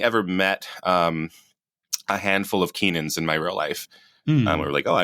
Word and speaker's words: Kynan: My name's Keenan. I've been saying that on the podcast, but if you look up, in the description, it's Kynan, which is hard to pronounce.